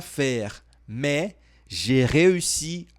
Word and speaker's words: réussi: Aqui, ó, você tem que fazer o biquinho nessa vogalzinha aqui, ó. Réussi, réussi. É um pouquinho complicado.